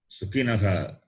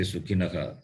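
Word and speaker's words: सुखिनः: Sukhinaha. You have to say Sukhinaha, not Sukhina Kshatriya. Sukhinaha, you have seen this. It is Sharpare Kar Kshatriyaha. So therefore Visarga should be pronounced.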